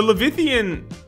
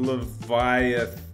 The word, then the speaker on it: Leviathan: going to Google it how to pronounce l Leviathan Leviathan what about let's do it slow Leviathan Leviathan Leviathan see I was right chip chips or oh